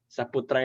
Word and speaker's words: Saputra: Kayak tulisan Arabnya Faisal Riza Saputra itu Safutro. Kadang-kadang orang susah bacanya, bilang aja Saputra bacanya.